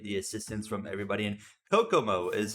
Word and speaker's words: Kokomo: so I appreciate the assistance from everybody and Kokomo is how we pronounce that one track uh that we are